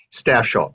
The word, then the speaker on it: Stafsholt: okay and it's rob staff shaw yeah did i pronounce that correct you did fine yep staff like the staff of people and shell okay very good um